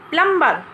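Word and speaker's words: plumber: yes flats को सब नौटंकी जितनी कॉपी में प्लंबर प्लंबर बोलते हैं ए प्लंबर डिप्लोमा स्टॉप सप्रेशन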